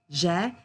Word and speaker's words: j'ai: A lot of students pronounce j'ai as je, and we can't hear the past tense here, okay? So, j'ai, tu as, il a, elle a, on a for the singular forms.